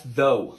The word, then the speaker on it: though: Oh, yeah, that's though. Though.